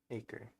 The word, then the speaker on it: Acre: Acre. A-C-R-E, acre. Like the land.